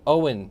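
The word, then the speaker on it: Eoin: It's Owen. So E-O-I-N is pronounced Owen for some reason in his country.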